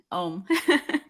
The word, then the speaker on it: Oum: and then the last name is pronounced? OUM.